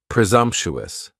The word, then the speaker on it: presumptuous: the S almost sounds a little more like a Z. Presumptuous, presumptuous.